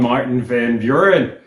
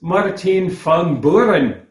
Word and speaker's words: Martin Van Buren: And it turns out we're not even pronouncing the man's name correctly. As his political enemies sometimes referred to him to mock him a little bit, ramping up the accent, the man was Maarten Van Buren.